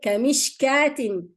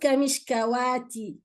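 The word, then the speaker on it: كمشكاة: Okay, kamishkatin, not kamishkawati, no. Kamishkatin, manata, not manawata, no. There is no fatha, it's a madda.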